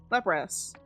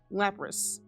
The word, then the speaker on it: Lapras: Why is an as is Lapras? It's just a little weird for it to have an as for it to be an is sound. The Japanese one is lease.